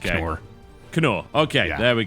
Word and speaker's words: cKnoor: It's just random letters, but I've decided that it's pronounced cKnoor.